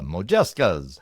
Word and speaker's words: Modjeska: They're called Mojeskas. A Mojeskas? I don't think I said it right.